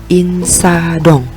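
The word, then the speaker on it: 인사동: Ada iyeng, i dan nien, ada siot dan a, lalu ada diget, o dan iyeng. Bacanya kira-kira Ya, Insadong. Insadong.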